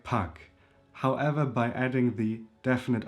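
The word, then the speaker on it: pak: So there is a short one which is in the word puck. Puck a puck means a little a bit.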